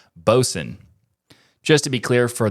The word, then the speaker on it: Boatswain: But this new application is called Bosun. Just to be clear for the audio listeners of TWIL, it's spelled like boatswain, but pronounced bosun.